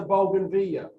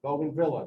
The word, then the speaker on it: bougainvillea: the flowers in sock this is a bougainvillea Bogan Villa depending on how you want to pronounce it these are what we